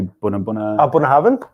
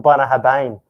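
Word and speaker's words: Bunnahabhain: Maybe Bunnahaven. Bunnahaven. Maybe Ardna Hay. Oh, that's the one. Yeah, the other B word. Bunnahaven. Bunnahaven. Yeah, there you go. Or Bunnahabane for us Aussies.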